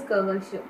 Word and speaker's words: Kavasha: But Kavach means the armor. Kavash means something else. No, it is cha or sha. In this encyclopedia, is spelled as K-A-V-A-C. Ha, C is cha. In transliteration, C is cha. Yeah, so Kavach Rishi. The name it was Kavasha. That's why I'm saying Kavash.